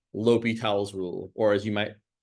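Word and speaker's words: L'Hôpital: Next quarter, we might talk about this thing called L'Hopital's rule, or as you might incorrectly pronounce it, L'Hospital's rule.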